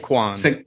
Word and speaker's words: Saquon: And Saquon Barkley, is it Saquon? Did I say it right? Saquon.